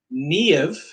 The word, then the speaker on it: Niamh: Niamh.